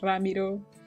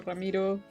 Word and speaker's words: Ramiro: The prince's name is Ramiro, or Ramiro. I don't know why I pronounced it that way the first time.